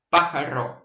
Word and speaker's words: pájaro: Но через слово паха, и послушай, как они произносят, у них х такая необычная. У них необычное. Послушай еще раз. Такая. Немножко на арабский манер.